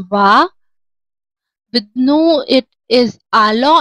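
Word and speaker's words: allons: With nu, it is alo, and it together pronounced as nous alo. That is when s plus a vowel meets the sound produced is z.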